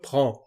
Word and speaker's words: prends: La primera forma es je prends. Existe una D, una S, pero no se pronuncian, solamente je prends.